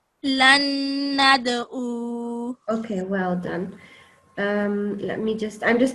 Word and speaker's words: لن ندعو: So qaf, ta, ba, jim, dal are all kalkala letters if they have a sukoon on top. So this one does. So you say it with a jumping sound.